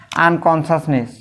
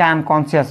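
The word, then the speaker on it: unconscious: উদগ্রি মানে সতর্ক থাকা আনকনশাসনেস আনকনশাস এ উচ্চারণ অনেকে আনকনশিয়াস বলে এ আনকনশাসনেস পসিবল এন্টিনিউস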